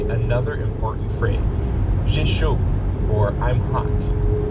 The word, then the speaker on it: chaud: The word chaud is pronounced like the English word show, but you stop right before you start closing your lips for the W.